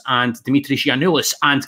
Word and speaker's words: Giannoulis: But tell the Hodge on Nodge listeners why you can tell us about Christos Tzolis and Dimitris Giannoulis, and correct my pronunciation first off.